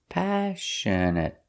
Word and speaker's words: passionate: The stress is on the first syllable, passionate. And the next two syllables are pronounced the same, passionate.